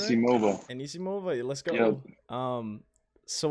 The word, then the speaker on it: Anisimova: So we got Wang and Enisimova, right? Yeah, saying it right. Anisimova.